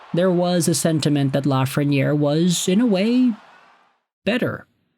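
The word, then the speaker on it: Lafrenière: You know him, you love him, a lot of folks were mispronouncing his name back in his draft season. Today we are talking about Alexis Lafreniere.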